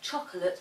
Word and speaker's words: chocolate: I mentioned earlier that the word chocolate has 3 syllables and not 2, but the second syllable is very quick.